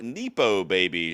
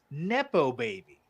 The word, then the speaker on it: nepo baby: you say it okay so first of all it's derived from the word nepotism nepotism yes I know that so so you shortening the word from nepotism baby to is not nepo baby it's nepo baby oh I didn't put